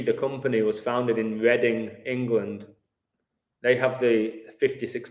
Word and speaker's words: Reading: 56 time gematria and reading the football team is called the royals which is interesting so summit with reading that's uh important reading like spelt like reading isn't it but pronounced differently father of mankind is